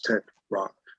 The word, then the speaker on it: Tetrarch: Tetrarch. Yeah, I think the CH throws off some people, but you know, but it's getting a lot better.